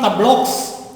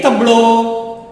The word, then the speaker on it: tableaux: But X is not pronounced. It is not tableaux. It is tableau. Des tableaux, des couteaux, des chapeaux, des manteaux, des bateaux, des oiseaux.